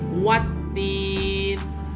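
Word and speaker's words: والتين: Yaitu alif lam yang tidak dibaca. contoh dalam kalimat ini, ya. Ada alif lam menghadapi huruf ta, tetapi alif lamnya tidak usah dibaca. Wattin, wazaitun, ataupun kalimat berikutnya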